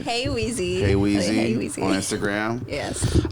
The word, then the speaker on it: Heweezy: HEWEEZY. HEWEEZY on Instagram. Yes. How do you want to be referred to? Sorry. Hey Juan. You know, like Hey Juan.